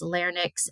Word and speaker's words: larynx: Again, I feel like I want to switch the Y in the end and pronounce larynx and pharynx, but it's not. It's pharynx and larynx.